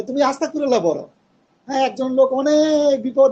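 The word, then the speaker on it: أستغفر الله: হবে আস্তাগফিরুল্লা আস্তাগফিরুল্লাহ এটা গনের উচ্চারণ তো আস্তাগ মানে কলকলা করা যাবে না কলকলা করলে আবার এটা কারণ গন তো কলকলা হরফ না কুতুব না আপনি যতটুকু শুদ্ধভাবে গনের উচ্চারণ করতে পারেন আস্তাগফিরুল্লাহ যতটুক শুদ্ধভাবে উচ্চারণ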